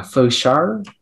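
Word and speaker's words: fauchard: bit okay yes uh foshar that's the only pronunciation it is a noun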